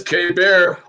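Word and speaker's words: Keibert: many different pronunciations for k-pair or key bird or whatever whatever the formulation would be as you can find sports talk he prefers to have himself called k bear okay uh josiah gray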